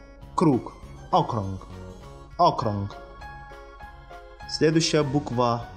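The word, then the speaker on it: okrąg: «Окрунг». «Окрунг». Следующая буква «у». Та самая «о» с креской.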